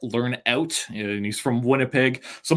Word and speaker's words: Lernout: I believe earlier I pronounced it as Brett Lernout, but it's actually Brett Lernout, and he's from Winnipeg.